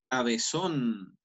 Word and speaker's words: cabezón: Por ejemplo, yo puedo decir cabezón. Cabezón lleva tilde en la última sílaba, son, porque es donde más hago fuerza.